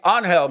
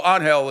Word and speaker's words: Angel: See, Anel, even though it's spelled like your name, Angel, but I and I know that that name that that depending on how the professional athlete wants to name pron. So, Anhill is do most people named